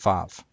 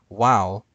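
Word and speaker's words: וו: the Hebrew letter that in ancient Hebrew made a w sound instead of in modern Hebrew which makes a v sound because it's pronounced VAV instead of W uh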